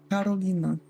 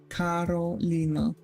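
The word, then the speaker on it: Karolina: Polish please um sure it's Carolina there's hard R being said Carolina it is only weird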